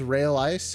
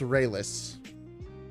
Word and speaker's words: Raelice: kind of re-enter the channel so is it pronounced ray-less i thought it was rail ice it's it's rayless yeah ray-less is how you say it check